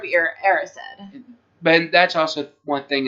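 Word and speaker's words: Erised: I've always pronounced it as he rised but it's er the mirror of arised but that's also one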